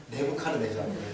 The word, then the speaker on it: 네부카르네자르: 성경 이야기를 하는 건데 느부갓네살 무슨 우리 성경 발음으로는 느부갓네살인데 네자르 무슨 카자르 어쩌고 그랬을까? 뭐라고요? 네부카르네자르. 저런 좋은 발음입니다. 네부카르네자르. 근데 그게 이제 느부갓네살. 그 영어로 써놓고 그냥 뭐 대충 읽은 게 느부갓네살인가 봐요.